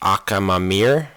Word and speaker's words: Akhamamir: the wind infant whose awakened name is actually pronounced akam mamir so in case if you guys don't know